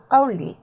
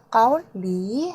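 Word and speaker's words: 까올리: 여러분 발음 주의해 주세요. 까울리 아니고요. 까울리 하고 높인다. 기억하세요.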